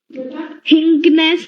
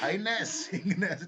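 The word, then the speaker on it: highness: सर क्या बोलते हैं हिंनेस मतलब हिंनेस हिंगनेस कहां से आ गया सर स्पेलिंग बताऊं एच आई जी एच एन E double S हाईनेसनेस नहीं होता ऐ पागल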